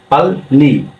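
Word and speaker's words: 빨리: আছে তাহলে কি হবে দুট কি উচ্চারণ হবে লতে উচ্চারণ হবে তাহলে কি হল সাংবিতে কি হয় প হয় তাহলে পাল প আকারে পা ল পাললি উচ্চারণ হবে পাল্লি পাল্লি পাল্লি মানে হল কোরিয়ান ভাষায়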